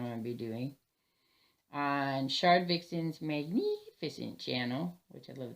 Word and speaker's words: Shardvixen's: That's how I say it. Whether you say it that way or not, it's fine. It's spelt that way. It's spelt very phonetically.